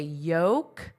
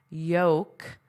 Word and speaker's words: yolk: They find their way into the yolks of eggs. Okay, what did you notice about my pronunciation into the yolk? Yolk. Of egg, the yolks of eggs. There's no l, it's totally silent.